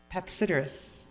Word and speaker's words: Papasideris: pronunciation skills today, Papasideris. What is it? Papasideris. You don't say the second A, okay.